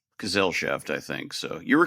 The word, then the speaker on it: Gesellschaft: feel like I'm going to mess up this pronunciation, but it's Tolkien um Gesellschaft? Gesellschaft, I think.